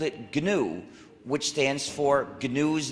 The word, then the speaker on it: GNU: according to the dictionary the g is silent and it's pronounced new so anytime you wanted to say new you could spell it gnu and you've got a